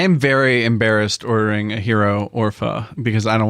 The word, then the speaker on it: gyro: EU ro no I I thought it was gyro then someone told me it was hero I'm like what why